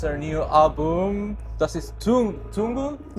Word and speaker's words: Tungl: Can Can you teach how to pronounce it? say Tungl. Tungl? Yeah. Yes. Tungl.